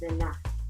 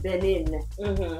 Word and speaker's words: Benin: No, my Togolese cousin, he said it's pronounced Bena. Bena. I like that. Yeah. Instead of Benin.